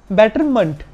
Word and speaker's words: betterment: सबसे पहले तो गाइस मैं आपको बता दूं कि इसकी एक्चुअल प्रोनाउंसिएशन है बेटरमेंट, मेंट नहीं मंट।